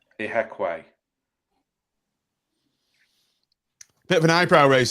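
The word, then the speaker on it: Ihiekwe: Michael, how can I pronounce this guy's name? Ahikaweki. Let's get this right at the start of the pod so we don't spend a season mispronouncing it. Ihekwe. Yeah, Ihekwe.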